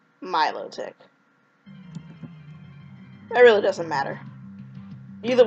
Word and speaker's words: Milotic: a shiny Milo and it's really Milotic is how you say it I like the